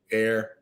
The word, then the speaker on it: heir: uh look at that hopefully you know that you know this word right air somebody's gonna inherit something silent h the kind of rare silent h in uh english but air to the